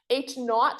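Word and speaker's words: H₀: zero is null right H not so zero is is not or H not right is usually how I pronounce it h notot um because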